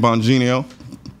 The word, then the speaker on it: Bongino: on folks we're back with conservative commentator Dan banino see I butchered your name this time after I've said